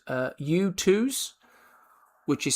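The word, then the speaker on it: Youtooz: There's a website called uh U2s, which is spelled uh Y O U T O O Z.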